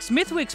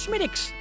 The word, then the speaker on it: Smithwick's: Yes, it looks like Smithwick's, but it's actually pronounced Smithwick's.